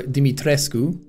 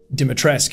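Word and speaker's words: Dimitrescu: don't like that uh dimitrisk or dimitresku as apparently it's supposed to be pronounced but they just keep saying dimitrisk in the game look at that dumpy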